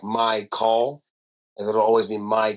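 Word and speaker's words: Mychal: not mine and then my actual name is spelled m y c h a l and he kind of had it so it's like my call as it'll always be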